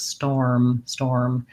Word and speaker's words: storm: So basically it's like store, the word store, but then you have to add an M after.